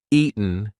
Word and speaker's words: eaten: That T is followed by a weak N sound. So we are not going to say eaten. We're going to say eaten. Eaten. Now listen. If I don't use the glottle stop, if I don't say any kind of t pronunciation, Ian, that does not work. It's eaten.